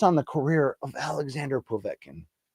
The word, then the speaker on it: Povetkin: the career of Alexander povetkin or as they would say povetkin that's how Lampley would always pronounce it that might be the